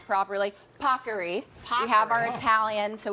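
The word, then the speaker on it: paccheri: as the Today's Show team made sure I pronounce properly pocker we have our Italian so we want to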